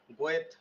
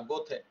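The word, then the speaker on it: Goethe: একজন কি বিখ্যাত কবি উচ্চারণ কি দেখছেন গোয়েথ এরকম না গোথে জার্মানি জর্জ বার্নার সহ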